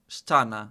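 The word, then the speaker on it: ściana: Stana. Stana. Stana.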